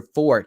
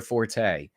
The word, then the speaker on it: forte: my fort and yes that's the proper pronunciation look it up it's your fort not your Forte this is not my